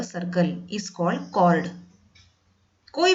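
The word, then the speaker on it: chord: इसका pronunciation कॉर्ड बोलते हैं, चौड़ मत बोलना, कॉर्ड ऑफ अ सर्कल।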